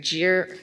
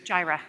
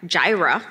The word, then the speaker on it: Jireh: she is a scrum master at I gotta pronounce this right jeer Jireh Jireh thank you semiconductor and I know her for